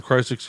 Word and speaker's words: Crisix: They pronounce it Crisix, by the way, so I'm not sure if I've been just saying it wrong all this time because I love them.